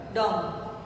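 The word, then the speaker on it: dumb: इसमें भी B silent है, आएगा ज़रूर लेकिन बोला नहीं जाएगा, बोला ये ऐसे जाएगा डम।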